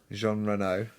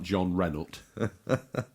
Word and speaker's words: Jean Reno: Jean Reno, the man named after a car. Or if you were pronouncing him properly, it was something like John Renault.